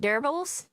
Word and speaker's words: nerble: He is a pair of dream creatures who are are called nerbles like Nurbble. I spell it real quick.